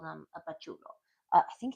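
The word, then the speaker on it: pachuco: Bachucho. Bacho. Bachuko. Pachuko. That's the way you pronounce it.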